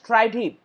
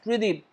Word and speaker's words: Tridib: my other text-to-speech software they pronounce my name as try him this is the only text-to-speech software which actually pronounced my word perfectly as 3d without me explicitly or